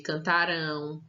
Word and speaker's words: cantarão: quando termina com ão Opa a sílaba tônica muda aqui vai ser cantarão brincarão dançarão comerão então quando tiver no futuro e terminar com ão nós vamos dar um som mais forte para essa última sílaba tá cantarão brincarão lembra